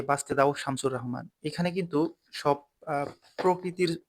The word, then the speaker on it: শামসুর রাহমান: শামসুর রাহমান, অনেকেই শামসুর রাহমান বলে, রাহমান বললেও ভুল হবে, শামসুর বললেও ভুল হবে। শামসুর রাহমান, এরকম উচ্চারণটা।